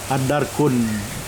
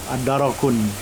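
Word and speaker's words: الدرك: Jadi mana darkah, ad-darkun. Ada yang membacanya ad-darok, ad-darokun. Jadi yang masyhur ad-darkah. Ada dua qiraat, ad-darku atau ad-daroku. Tapi di dalam mushaf ini ad-darku, ad-darku asfal, lapisan paling bawah.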